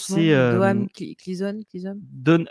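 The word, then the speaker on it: Domhnall Gleeson: C'est de comment se prononce son nom c'est Doham Cleason. Donald Gleason, voilà.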